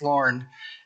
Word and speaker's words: Lauren: getting your name wrong it's not Lori it's Lauren um does anyone at